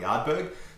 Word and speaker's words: Ardbeg: I'm also just going to quickly correct you on the pronunciation of Ardbeg. Ardbeg.